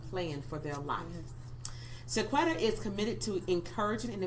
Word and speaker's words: Chaquita: I always want to say Chaquita, but her name is Chaquita.